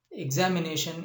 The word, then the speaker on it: examination: The suffix is TION, and where the stress is? The stress is on NA, and NA is a